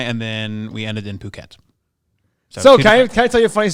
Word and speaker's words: Phuket: Nobody said the word, so I said like, oh yeah, like that one city, fuck it. And he goes, That's what it reads like. Then he goes, it's pronounced Phuket.